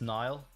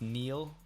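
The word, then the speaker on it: Niall: it's super common uh that's nile but for everyone it's neil is how they pronounce it so it's nile just so you know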